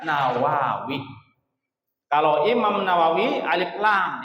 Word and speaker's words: Nawawi: Kalau Syekh Nawawi enggak pakai alif lam, langsung nun saja, ya, diawali dengan huruf nun, dibacanya Nawawi.